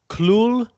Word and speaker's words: Cthulhu: it's very weird it's there's a like an l in there that you wouldn't think is there it's cluel which it just doesn't